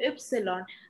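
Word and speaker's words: Ypsilon: Ma'am বলেছিলাম যে ওয়াই এর উচ্চারণটা কিভাবে ওয়াই ওয়াই ওয়াই, আচ্ছা। ওয়াই হচ্ছে জার্মানে আমরা যে লেটারকে বলি ইপসিলন।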